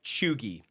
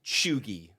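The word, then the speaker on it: cheugy: in very nice that everything we're talking about choogie something is choogy shugier can you spell it damn it I just c-h-e-u-g-y country of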